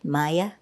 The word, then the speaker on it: Maja: In Croatia, it was Maja, pronounced the same way, Maya.